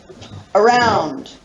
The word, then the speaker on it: around: First one, around. You really put the emphasis on the second syllable. You barely hear the first syllable. First syllable is schwa.